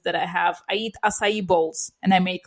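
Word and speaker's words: açaí: So this is how it's pronounced. Asai well this is this is the way you say it. Asai.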